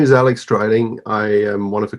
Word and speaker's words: Dreiling: Am I pronouncing it right, Alex? Dreiling?